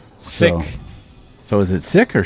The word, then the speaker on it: Siech: Jim says fun fact Gray's last name is pronounced sick the H is silent sick so is it sick